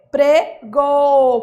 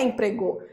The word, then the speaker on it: emprego: a última forte empregou não é empregou é emprego emprego emprego a sílaba mais forte é quando você for gritar ela se estende no grito Tá que que eu quero